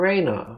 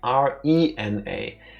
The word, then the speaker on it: Rena: call her Raina with R E N A. Does it sound like I just said the same thing twice? Yes. That's because we stick with our pronunciation. Technically, it should be Rena, not Raina.